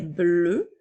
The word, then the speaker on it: bleu: Alors, bleu au masculin s'écrit B-L-E-U, qui vont faire le son E, alors bleu.